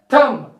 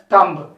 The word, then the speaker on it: thumb: the fifth one t-h-u-m this word should be pronounced as a thumb is here silent here p is the silent here not the thumb it should be thumb it should be not a tumblr so coming to the